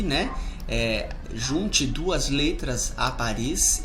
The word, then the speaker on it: Paris: Paris, não pronunciamos consoantes finais.